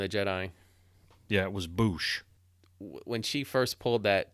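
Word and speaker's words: Boushh: it the name the bounty hunter said he pronounced it in returned the jedi yeah it was Boosh when she first pulled that thermal detonator out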